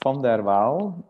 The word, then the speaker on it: Van der Waal: So my surname in Dutch is pronounced Van der Waal, which is also a bit of a tongue breaker if you're not Dutch by native speaking.